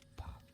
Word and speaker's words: Puck: And Puck rhymes with luck, obviously.